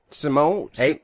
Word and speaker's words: Simeone: heard of it well I pronounced it Simone but I did I I did uh some navy bases for the troops in uh southern Italy Sicily uhhuh and everybody pronounced it Simon Sim Sim they always they always fade out at the end with the it's like how they say mozzarel they say put some in the mozzarel be they sing everybody